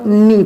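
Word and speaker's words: knee: जिसे यहाँ देखो नी पढ़ा गया। क्या पढ़ा गया? नी। ये के जो है वो एन से पहले आ गया, तो क्या है यहाँ पास के साइलेंट मोड में है।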